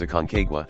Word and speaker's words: Aconcagua: hundred and sixty-two meters the Spanish pronunciation of the mount is aconcagua with a summit elevation